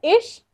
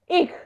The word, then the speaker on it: ich: जो इच है ना, वो हम लोग सी एच का प्रोनाउंसिएशन च ऐसा नहीं करने वाले, ठीक है? तो वो either you can pronounce it एज इश और इक, इक, ओके मैम। ओके, एक। या और इश, जो आपको कन्वीनियंट हो, वो दोनों सही है।